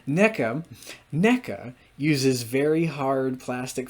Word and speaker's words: NECA: I mean na uses na that's how my screen reader pronounces it forgive me please NECA NECA uses very hard